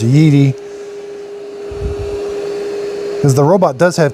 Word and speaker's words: Yeedi: know in the first video I called it Yeti it why they chose that name it's way too similar to a Yeti but it is pronounced yeii cuz the robot does have commands that it